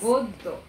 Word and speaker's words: গদ্য: দুবার উচ্চারিত হচ্ছে এখানে গদ্য গয়ের যে আদ্য অ আছে সেটি ও এর মতো উচ্চারিত হচ্ছে আবার জ ফলা থাকার